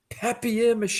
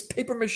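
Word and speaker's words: papier-mâché: to though um Seinfeld he's like happier mache it's paper mache you're so pumpus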